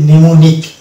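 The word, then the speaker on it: mnemonic: মানে সাইলেন্ট থাকছে যেমন এক্ষেত্রে কিন্তু এম এন পাশাপাশি এম এন আছে এবং শব্দের শুরুতে আছে এক্ষেত্রে আমরা এমন কে উচ্চারণ করে এটার উচ্চারণ হবে নিউমোনিক নিউমোনিক এখানে এম টা সারে হচ্ছে এই একটি মাত্র শব্দ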